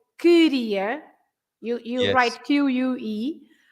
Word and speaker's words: queria: But if you say QUE, for example, like queria, you write QUE. You don't pronounce the U, right? It's queria. You don't pronounce the U.